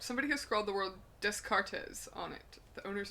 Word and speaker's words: Descartes: think we're done here it's funny because it's pronounced descartes oh you want to get um put your